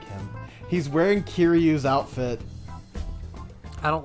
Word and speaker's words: Kiryu: He's wearing Kiryu's outfit. I don't like the flower. Yeah, the flower is sketchy too, but hang on. I can't pronounce. I can't spell. Kiryu. No, not Kiri. Kiryu, and he is from Yakuza.